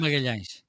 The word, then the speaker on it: Magalhães: Magalhães.